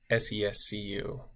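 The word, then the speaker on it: Ceaușescu: He spelled that name wrong. It is Ceausescu for the famous dictator.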